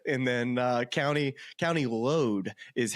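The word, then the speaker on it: Louth: then uh County County load is how they the caddies pronounce it to me but I was count pronouncing it loath so there's there's an Irish version an American version how you say it but I just want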